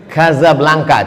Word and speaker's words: Casablanca: Maroko nama ibukotanya Kasablanka tulisannya Casablanca casablanka cara bacanya Gaza artinya rumah blanka